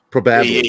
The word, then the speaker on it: probably: I am putting the wrong emphasis, or I'm putting the emphasis on the wrong syllable. Probably.